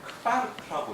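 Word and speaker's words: Quark: 근데 쿼크라고 안 하고 아마 제가 이걸 크바르크라고 읽는 걸로 알아요. 독일에서는.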